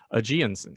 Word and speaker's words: Ageonsen: i apologize for that ajiansen i like that jinsen so it's uh aji plus a hot spring cool yeah i think